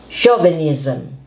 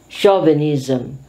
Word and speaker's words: chauvinism: who is known for his culinary expertise chef chauvinism chauvinism sometimes we don't like this this is an